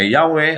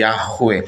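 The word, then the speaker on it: Yahweh: may tam pagbigkas so ito ay ang tamang pagbigkas ng pangalan ng dakilang may lika na yahwe Ay yahwe kaya sa ating panalangin Ito po yung gagamitin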